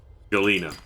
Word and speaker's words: galena: I don't know if it may have already done that before, but the need the G one, the galvium, galnatite, galena.